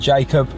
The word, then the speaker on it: Jakob: We're going to meet up with a lad called Jacob, and Jacob's going to... Or Jakob. Or Jakob. Call him Jakob, mate, because that's how it's pronounced.